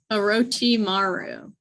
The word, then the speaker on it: Orochimaru: Oh, it's like a roach. Orochimaru. Yeah, like a cockroach.